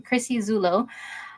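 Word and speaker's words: Chrissy Zullo: Yeah, that's how you say her name, Chrissy Zulo.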